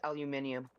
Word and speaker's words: aluminium: It's pronounced both ways. Depends on what part of the world you're in. And I want to pronounce it the right way. It's aluminium.